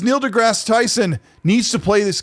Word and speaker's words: deGrasse: It's pronounced deGrasse, right? Yeah, deGrasse. Yeah, I keep thinking Degrassi, but then I start thinking about the show.